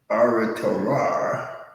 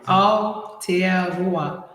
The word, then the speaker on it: Aotearoa: And another aspect of what we want to do is to bring people to Aotearoa. Am I saying it right? Aotearoa.